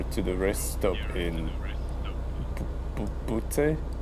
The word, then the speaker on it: Butte: How about we go here to the rest stop in Butte? How do I pronounce it? I don't want to pronounce it as a part of a human body.